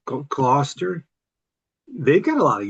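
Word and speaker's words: Gloucester: It's like uh Worster sauce cluster.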